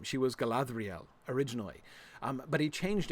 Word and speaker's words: Galadriel: to struggle with that so he simplified it to the dr because like dhr like that's not a continental combination that happens in English right so he thought people would really stumble over it and he didn't want people stumbling over Galadriel's name um so he uh so he he he changed it to to Galadriel with a d um you'll notice of